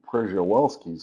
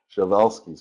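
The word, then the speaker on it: Przewalski: all shal's horses it's I know it's spelled like it should be pel's horse but it's actually shal's horse it's a Polish name and so the um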